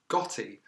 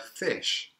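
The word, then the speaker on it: ghoti: might think it's pronounced gotti but in fact this is a creative re-spelling of the word fish how do we get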